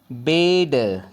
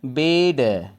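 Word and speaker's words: bed: जैसे बेड, क्या बोलेंगे? बेड। बैड नहीं बोलेंगे, बेड।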